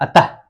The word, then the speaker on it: अतः: तो विसर्ग है ना, ये जो है इसको भी जैसे उच्चारण करते हैं ना तो हम लोग जैसे बोलते हैं अतः, अतः उच्चारण जब करते हैं तो इसमें ह की मात्रा आता है, आधे ह की, किसके जैसा?